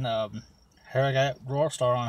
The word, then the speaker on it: Rawstarr: Rawstarr.